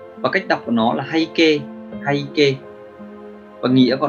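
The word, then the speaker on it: 背景: Từ này thì âm Hán của nó là từ bối và từ cảnh, từ bối và từ cảnh, và cách đọc của nó là hay kê, hay kê, và nghĩa của nó là bối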